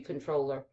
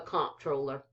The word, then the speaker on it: comptroller: then we have the i think you pronounce this controller y'all honestly it's supposed to be controller uh but what this is texas we call it the comptroller the comptroller of public